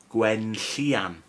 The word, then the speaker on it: Gwenllian: Ooh, you probably saw this one and go, oh, how can I pronounce this? Okay? Easy, right? Right, I'll say the letters first. Gwyn, Gwenllian.